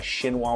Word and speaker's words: chinois: I've got a chinois, which is a very fine mesh strainer. It's spelled like chinois if you're looking to buy one, chinois.